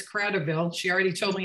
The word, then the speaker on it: Kratovil: Nope, it's Kratovil.